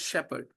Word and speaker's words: shepherd: The life of a Welsh shepherd. How do we pronounce the word? Shepherd. Shepherd. It is not a. H is silent.